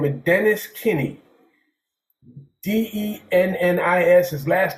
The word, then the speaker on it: Kinne: was this guy by the name of Dennis Kinney, Dennis. His last name is spelled Kinne, and they took me to him,